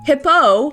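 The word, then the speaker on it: Hippeux: Hippo is a hippo. Yes, the X is silent in his name.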